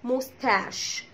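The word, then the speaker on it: moustache: فرنسيه ودخلت على الانجليش، زي كلمه موستاش موستاش اللي هي شنب، موستاش بتتبقى بسي اتش وبتتنطق ش عشان هي كلمه فرنسيه.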